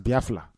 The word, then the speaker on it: Biafra: where we come from we pronounce it as biafra l a instead of r a these are one of